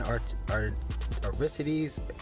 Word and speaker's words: Aristides: My man, Aristides, that's how you pronounce it.